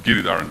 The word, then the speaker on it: Giridar: I'm Giridar to a beautiful that's the best pronunciation I've had of my name ever at a an event, can I say?